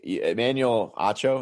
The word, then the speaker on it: Emmanuel Acho: really really been watching anybody really um except emmanuel acho is how you pronounce his name i really like him i